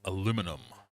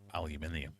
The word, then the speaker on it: aluminium: Copper, gold, iron, or aluminum or aluminium if you say it properly.